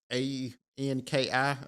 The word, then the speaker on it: Anki: out there like uh a n k I always call it Anki he'll not show how you pronounce it but it's a-n-k-i well you can make